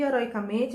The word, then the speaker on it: heroicamente: E heroicamente, a sílaba tônica é o O. É o MEN, no caso.